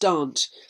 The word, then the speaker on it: Derwent: them on the river Derwent or Darwent, used to be pronounced Dant.